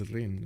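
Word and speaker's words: Rijn: to pronounce is it Rin you you just don't pronounce the J I think it's Ren right anyway I should have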